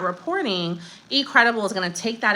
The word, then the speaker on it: eCredible: So one of the first places I want to show you guys is eCredible, which is spelled like letter E, credible.